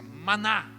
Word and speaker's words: maná: E o que é isso em hebraico tem esta pronúncia, maná.